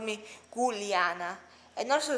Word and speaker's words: Giulia: I'm from the region that is called Friuli Venezia Giulia, which, yes, my name is Giulia. That is spelled, by the way, G-I-U-L-A-A, which is in